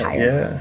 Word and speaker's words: Heyer: Well, our last name is hire and uh so it's kind of a play on words there. Most people don't get that part of it cuz it's spelled higher, but it's pronounced higher.